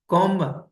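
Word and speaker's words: comb: इधर है इसमें जी कॉम कॉम इसमें बी नाइफ में क्या है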